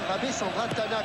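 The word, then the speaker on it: Rabesandratana: Alors, quand on prononce en français, c'est bien Rabé Sandratana, corner.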